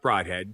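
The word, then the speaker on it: Brodhead: Well, it's pronounced Broadhead. Don't ask me why.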